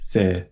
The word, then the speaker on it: ぜ: Se with the dakten is pronounced ze.